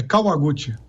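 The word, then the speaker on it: Kawaguti: Sobrenome, a pronúncia correta do seu sobrenome? É Kawaguchi.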